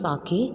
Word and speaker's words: sake: So the pronunciation of this word is sake, and what is the meaning?